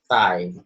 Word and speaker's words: thigh: So it's pronounced, it sounds like Thai, okay? Not like Thailand, okay?